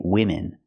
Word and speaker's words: women: form here and say women pronunciation use the short is sound like this is for both vowels I women women is the